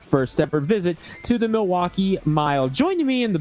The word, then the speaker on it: Milwaukee: Well, actually, it's pronounced Milwaukee, Algonquin for the Goodlands.